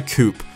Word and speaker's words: coupe: I've been told by some comments that I pronounce it wrong, but I'm an American and the majority of us say coupe. So that's what I'm going to call it for the remainder of this video because our version doesn't have an accent over the E.